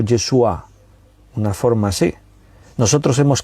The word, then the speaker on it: Yeshua: pronunciaba así en hebreo si tú oyes hablar a un hebreo y escuchas el nombre jesús en boca de un hebreo pues la expresión viene a ser algo así como yeshua una forma así nosotros